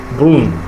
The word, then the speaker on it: brun: Brun, not brune, because in the French language, the end sound when it ends a word is not pronounced completely. The last N, in French words are not, or let me say it's not pronounced strongly. Okay, it's not pronounced that strongly because it sounds like